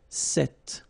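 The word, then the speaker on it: cette: then feminine form is set like that so it's quite interesting because if you listen carefully the masculine form here set and The Feminine form here set you write them differently but then you pronounce them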